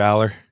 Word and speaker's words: Allar: how do you say his name yeah Drew Aller yeah that that just looks weird allar quarterback